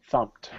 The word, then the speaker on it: thumped: guys umum Thum Thum now if you're thinking you're an idiot teacher it's Ed this is how it's spelled yeah but not how we say it oh got to type it properly right that's not how we spell it either fum fum we never say Ed okay some of you